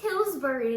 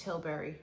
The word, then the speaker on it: Tilbury: well because she says tillbury and I'm just like it's Tilbury I always say tillbury I don't know why that's what I think it is tberry Charlotte Tilbury kissing satin shine lipstick